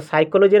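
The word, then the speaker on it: psychology: तो साइकोलॉजी रे Canada P letter silent thesis.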